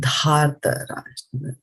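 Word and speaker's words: धार्तराष्ट्रस्य: This is dhar and this is dar. So this here it's dhārtarāṣṭrasya, not dar.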